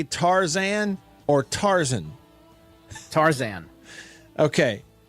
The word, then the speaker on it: Tarzan: Now, Beav, before we move on real quick, I got to ask you, do you say Tarzan or Tarzan? Tarzan. Okay. So it's like two equally emphasized syllables.